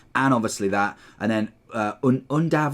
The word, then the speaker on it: Undav: And then Undav, I think is how you pronounce his name. I don't think it's Yundav.